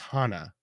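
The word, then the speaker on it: はな: Because the flower and nose in Japanese are both pronounced hana, like the same pronunciation.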